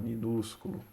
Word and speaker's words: minúsculo: deus é minúsculo tá minúsculo né a sílaba mais forte tá minúsculo perdoe mas